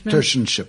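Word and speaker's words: tertianship: you had that um forgive me if I pronounced it wrong. You said ters tership. Tersship.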